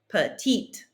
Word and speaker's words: petite: If I added an E to that, I would pronounce that last T. Petite.